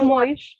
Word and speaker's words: Camões: Camões, em vez. Não, eu dizia Camões em vez de É, Camões. mas aí tem de ser corrigido. Pronto. A sílaba tónica está no fim, não é?